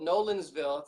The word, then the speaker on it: Nolensville: Yeah, I'm in a little town called Nolensville. It's kind of like the pub. Is Nolan's still there? But it's Nolens. Nolens is still here.